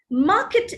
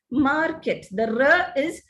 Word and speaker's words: market: a consonant sound now indians generally pronounce the r sound in in all positions of the word for example let's look at the first word market market is the standard pronunciation but indians tend to pronounce it as market also teacher doctor the